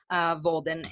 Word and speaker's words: Volden: Volden rhymes with golden. So it's Christine with CH, Volden, and you can find a ton of information on there, and some free resources and webinars and videos.